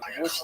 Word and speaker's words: Łódź: This was the case in Łódź, which is pronounced Łódź, but it's got an L. The people in America say Lodge.